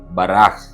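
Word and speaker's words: בָּרַךְ: வார்த்தை இன்றைக்கான எபிரேய வார்த்தை பராக் அதனுடைய எழுத்துக்களை உச்சரிக்கிறேன் பேத் ரேஷ் கேப்சோபித் உயிரெழுத்துக்களோடு உச்சரிக்க வேண்டும் என்று சொன்னால் பேத் காமட்ஸ் ரேஷ் பெட்டா கேப்சோபித் ஷவா இந்த கேப்சோபித்துக்கு உள்ள ஷவாவ போடுவார்கள் பராக் என்பதாகும் இந்த பராக் என்கிறதான வார்த்தைக்கு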